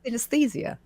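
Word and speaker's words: synesthesia: And do you mind talking a little bit about is it pronounced synthesia? Senesthesia.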